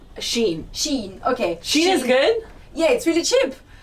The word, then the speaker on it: Shein: How do you pronounce it? Shein? Shein, okay.